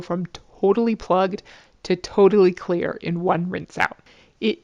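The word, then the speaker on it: Xlear: be pretty great the brand name is is pronounced clear but it's spelled XLE e a r not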